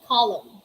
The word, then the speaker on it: column: what are the examples these are the examples we have column we don't see column column it's wrong we just say column we say damn damn